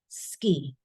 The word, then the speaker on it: 好き: Now, ski is pronounced as silent U. Ski, like.